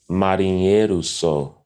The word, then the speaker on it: marinheiro sou: I once heard a debate from two Karpatistas about how to pronounce marineo sao. The way that I learned it is marinheiro sou.